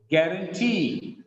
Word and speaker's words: guarantee: Look at here, it is not question, it is question, question, questionnaire, questionnaire, employee, employee, guarantee. The stress is on last syllable here, guarantee, kangaroo, kangaroo, bamboo, engineer, engineer, Japanese, Japanese, picturesque, picturesque, cigarette, balloon, balloon.